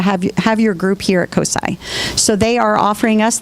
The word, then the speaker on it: COSI: So we are developing a nice partnership with COSI, which is the Center for Science, Central Ohio.